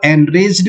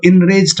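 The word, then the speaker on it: enraged: दोस्तों इसको जो प्रोनाउंस करते हैं कई लोग वो एनरेज्ड भी करते हैं, वो भी करेक्ट है। कई लोग इसको इनरेज्ड पढ़ते हैं।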